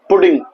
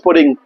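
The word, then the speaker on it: pudding: इसे बोलेंगे पुडिंग, पुडिंग, ठीक है। इसका इंग्लिश वर्ड है क्या है, आई वॉन्ट सम पुडिंग। कुछ लोग इसे पडिंग भी करते हैं, बट the right pronunciation is पुडिंग, ठीक है।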